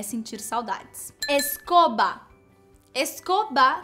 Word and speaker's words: escoba: Escoba se escreve com B no final, escoba. E é B mesmo, então não tem como falar escova, mas parece, né?